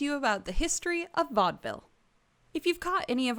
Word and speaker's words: vaudeville: american so of course we stole the term from the french and pronounced it entirely wrong uh historians think that the term came from a bastardization of vo de ville which means voice of the city or vaudevir which is